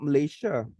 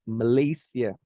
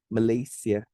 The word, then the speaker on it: Malaysia: It's not Malaysia. Okay. The correct pronunciation of our country is Malaysia. Okay. It's not Malaysia. It's not Malaysia. No, it should be Malaysia.